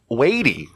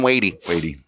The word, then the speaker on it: Watie: The internet says his last name's pronounced that, so don't get mad at us if it's not right. Watie, Watie. We've heard it all. We've watched about 8 videos with different pronunciations. We're saying Watie.